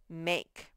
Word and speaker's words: make: you a and then put the silent e that gives all its power over to that one to say its name make he to play with